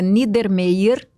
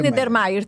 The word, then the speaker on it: Niedermayer: Meu sobrenome é Niedermayer, de casa, do meu pai. Agora a pronúncia está correta, porque eu tentei falar duas vezes aqui. Não, mas é Niedermayer. Pode ser Niedermayer também.